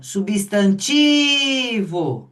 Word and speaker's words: substantivo: Então, substantivo. Ah lá. Substantivo. Aí o tique é forte.